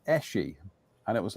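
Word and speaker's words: Esci: I saw this advert, I used to call them Esky, and the advert says pronounce it Eshi, and it was like But then that's what I've always called it, even as a kid.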